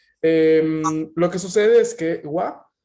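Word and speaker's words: は: Entonces, lo que sucede es que wa es la pronunciación de la sílaba ja cuando está en función particular.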